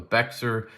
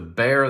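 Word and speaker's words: Bexar: X AR R some people call it the beex it is the bear that's how you pronounce it it is a slip joint that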